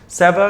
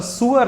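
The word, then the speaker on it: sewer: और सीवर line Indian English pronunciation, और सुअर लाइन परफेक्ट ब्रिटिश और उन वर्ड्स में कहना चाहूं सुअर एक तरह से, या सीवर जो आप कहें नाले को दिखाता है।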